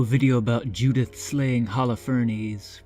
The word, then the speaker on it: Holofernes: So I wanted to do a video about Judith slaying Holofernes, which by the way is the correct pronunciation. Holofernes or Holofernes.